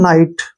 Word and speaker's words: night: इसको पढ़ेंगे हम नाइट, क्योंकि GH यहाँ पे साइलेंट रहेगा।